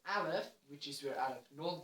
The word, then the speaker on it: aleph: greek etc except for in hebrew you pronounce it as aleph which is where arab